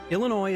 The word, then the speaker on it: Illinois: and here's why by the way the S is silent Illinois is one of 50